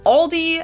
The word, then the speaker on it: Aldi: In English, people usually pronounce this Aldi. I think I've also heard Aldi before, but I think most people say Aldi. Or they also sometimes add an S that isn't there in the end and say Aldi.